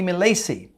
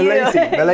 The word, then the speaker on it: Milacci: Milacci. Yes. Is that Italian? Yes, it is Italian, but we do not pronounce it in the Italian way, obviously. Which would be Milacci. Milacci, yeah. Right, but it's Milacci.